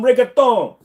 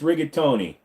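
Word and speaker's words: rigatoni: in their language oh I want some rigon no it's rigatony don't don't I want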